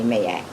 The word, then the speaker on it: Ma'at: It's M-A, my apostrophe A-T. I say Mayat.